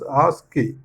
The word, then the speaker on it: ASCII: ASCII, we read it as ASCII.